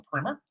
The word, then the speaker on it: primer: That's the proper way to say it. Believe it or not, everybody says primer, but it's a primer.